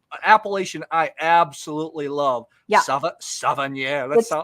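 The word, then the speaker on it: Savennières: Savennieres. You say it just like it looks. Yes. From France, based on the appellation is Savennieres.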